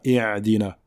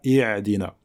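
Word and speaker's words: اهدنا: Ihdina, ihdina, donc ihdina et non pas i'dina.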